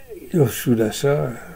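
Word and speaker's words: Sudas: premier pouroita de du roi souas souas on prononce pas le dernier du roi souas qui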